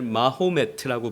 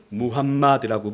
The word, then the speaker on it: 무함마드: 띠를 모함매드라고 부르기도 하고 지역마다 부르는 이름이 그러니까 발음이 좀 달라지는 거죠 영어식으로는 무함마드라고 부르죠 이 마호메트의 생일을 잠깐